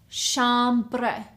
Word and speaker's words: chambre: The third word is chambre. Chambre. 2 syllables.